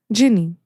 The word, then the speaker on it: Gini: How do you pronounce her name? Gini. Yeah, that's a name. Okay. Ginny. Ginny. It's Ginny, Ginny yeah. only. Yeah. That's how you pronounce it.